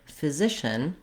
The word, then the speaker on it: physician: So first of all, looking at the word physician, we have second syllable stress in this word.